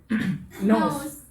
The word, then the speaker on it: knows: Ya, K-nya nggak usah dibaca Mbak Eti. Nose, ya.